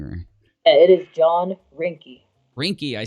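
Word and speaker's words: Reinke: asked about John I'm gonna say his last name wrong can you say it for me Rennick or rinky or I don't want to say wrong or it is John rinkie rinkie I said it I can't believe I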